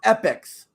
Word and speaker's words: Epyx: Say hello to Summer Games by EPYX or pronounced Epics.